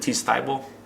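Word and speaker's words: Thybulle: mcgee's blog um matisse from the 76ers and t style that's how you pronounce it and then the other guy is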